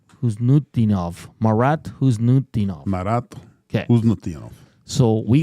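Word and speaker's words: Khusnutdinov: Huznutdinov. Marat Huznutdinov.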